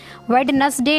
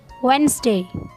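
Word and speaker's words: Wednesday: in English views college व्यवसाय में silent है वेडनेसडे नहीं बोलेंगे तो क्या बोलेंगे हम वेनसडे व्हेन से और यह भी मैंने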